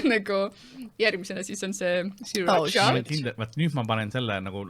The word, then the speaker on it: Sriracha: Sriracha siis või? Sriracha. Racha. The R is silent.